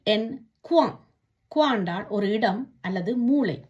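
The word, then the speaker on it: coin: சே ஓ இ என், Kuan.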